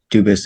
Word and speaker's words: Dubus: I am Anthony Edward Dubus. Dubus is the English pronunciation. Dubus is the original French.